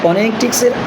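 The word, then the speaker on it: phonetics: Rule number 2 স্ট্রেসের, যদি কোনো ওয়ার্ড TIC অথবা TICS অর্থাৎ টিক বা টিক্স দ্বারা শেষ হয় বা শেষে যদি TIC অথবা টিক্স থাকে তাহলে তার আগে সিলেবাসটার আমরা stress Dev. For example, ফনেটিক্স, তাহলে ফনেটিক্সের আগেই পরে এবং TICS রয়েছে, তার আগে রয়েছে অ্যানি, অর্থাৎ অ্যানিতে আমরা stress Dev. For example ফনেটিক্স, ফনেটিক্স।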